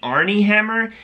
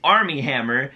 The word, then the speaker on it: Armie Hammer: freaking correct myself, because I kept saying Arnie Hammer in that video, but I found out the damn N is an M, and it's Armie Hammer, and I just corrected